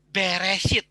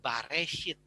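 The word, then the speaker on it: בראשית: atau pelafalannya itu adalah bereshit sampai ke jaman Tuhan Yesus pelafalannya itu adalah there hit sampai orang rabi-rabi Yahudi itu menuliskan atau menambahkan huruf vokalnya jadi Bere hit bukan bareh it jadi pengertiannya adalah in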